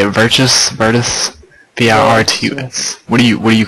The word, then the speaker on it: Virtus: V-I-R-T-U-S.